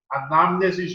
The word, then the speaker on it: anamnesis: Na igreja, a gente usa essa palavra grega, anamnesis ou anamnese, pode ser as duas pronúncias, para dizer, é uma memória atualizada.